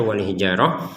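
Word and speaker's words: الحجارة: Di sini ada ta, kita bacanya wal hijarah karena berhenti. Jadi, huruf tan-nya terbacanya ha dengan berhenti.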